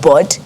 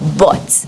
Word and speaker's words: bud: in the butt but what i am hearing is bots but what you are actually saying is bored do you understand so i have mistaken your pronunciation of bud for butts yeah and you can